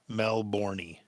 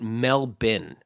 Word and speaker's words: Melbourne: to Adelaide now here's the thing you are mispronouncing Melbourne Melbourne melbourney thing well that's yeah I made a joke about that on stage uh because they pronounce it melbin melbin right so the joke was the other